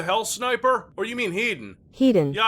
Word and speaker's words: Hedon: sniper or you mean heaton he didn't yeah i pronounced that hedon yeah that's right i pronounced the thing correctly because apply directly to